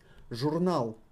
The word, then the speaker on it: журнал: Журнал. Journal is magazine. Journal. Journal. The emphasis on A.